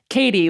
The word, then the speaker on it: Katie: And she wrote into the box, Katie, like R, matey, if you were a pirate, but a K instead of an M and usually without the R.